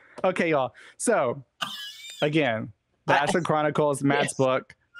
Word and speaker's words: Ashon: Ashon.